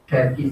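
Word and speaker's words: Cherki: শেরকি সিএইচই, ফরাসি থেকে এর উচ্চারণ হবে শেরকি।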